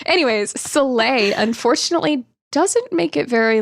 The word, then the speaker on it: Soleil: I kept thinking Salil, and I was like, that's not. Anyways, Soleil, unfortunately, doesn't make it